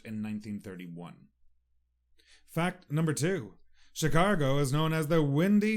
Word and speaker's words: Chicago: a g o and for some reason in Ireland we like to say Chicago chicargo I do believe the